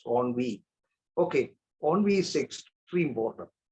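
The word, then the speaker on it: ennui: I think it is pronounced onvi. Uh not there's another word called nv y. That's envi. I think this word e n ui I I have a feeling that it is pronounced as onvi.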